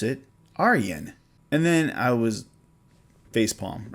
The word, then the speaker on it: Ayreon: and then i thought the first name was arjin but i'm like wait wait this is dutch i should probably look it up and sure enough you pronounce it aryen and then i was facepalm right aryan so